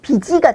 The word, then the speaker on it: 빛이: 옷으로 쓰는 거죠 그러나 b 베이가 붙을 때는 비치가 되는거구요 7 받침 뒤에서 쓸개는 빛이라고 설 그 발음을 해야 되는 거예요 그래서 문맥에서 이 세